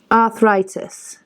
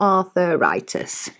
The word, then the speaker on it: arthritis: She says arthritis. She says, "Not arthuritis."